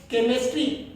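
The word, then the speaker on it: chemistry: काम में ले रहे हैं तो CH को केमिस्ट्री, ठीक है यहाँ पर भी हम ले रहे हैं।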